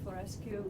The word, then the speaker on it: Florescu: Florescu, could I ask you, is that how you pronounce it?